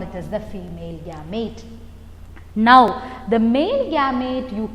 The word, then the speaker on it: gamete: give them a name you call them as gametes you pronounce it as gamete but when you write it is gamete e but when you pronounce it is gamete